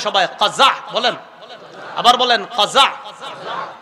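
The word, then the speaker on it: قزع: বলেন আমার সাথে সবাই, কাজা বলেন, আবার বলেন কাজা, কফ জা আইন বানানটা কাজা বলেন।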